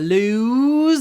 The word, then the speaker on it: lose: it is weird anyway lose loose I don't want to lose my loose sweater I don't want to lose it's long loose my loose it's